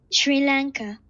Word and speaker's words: Sri Lanka: The first thing we're gonna do today is learn how to pronounce it, because I'm sure I'm pronouncing it wrong. Sri Lanka.